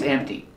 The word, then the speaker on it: empty: yes their drawer is empty there's nothing in the drawer remember printation for empty don't pronounce the P sound it's m t empty this drawer is empty